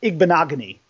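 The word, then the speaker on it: Igbinoghene: you see you guys Noah big bonaga knee I believe it's how you pronounce his name so if you can sneeze again you'd probably pronounce his last name Noah big bonaga knee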